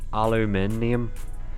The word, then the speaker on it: aluminium: I think I think Americans spell it the same way they just pronounce it without the I they say alum in um but they say it instead of aluminium it's weird just pronoun in a strange way you're going to play